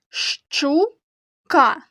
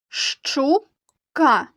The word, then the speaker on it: щука: на малюнку правильно щука послухайте як я буду вимовляти це слово та назвіть перші звуки які ви чуєте щука щука правильно приголосні звуки ш і ч сполучення звуків ш ч позначають буквою щ велика буква щ маленька